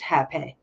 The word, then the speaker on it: Rapeh: and one called Hape, which is actually spelled Rapeh, but pronounced Hape.